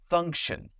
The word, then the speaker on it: function: When you see T-I-O-N, it's pretty much always pronounced shun.